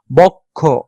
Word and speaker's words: বক্ষ: নেই সেটাই কি হসন্ত দেখো বক্ষ বক্ষ ক যখন আমরা উচ্চারণ করি সাথে কি আমরা একটা অ স্বরে অর আমরা একটু উচ্চারণ করি কিন্তু এই অটা কিন্তু এখানে আমরা উচ্চারণ করছি না বক্ষ ঠিক আছে খ তে কিন্তু অ বা ও আমরা ব্যঞ্জন স্বর উচ্চারণ করছি কিন্তু এই ক তে কিন্তু আমরা স্বরের উচ্চারণ করছি না এইটা হলো আসলে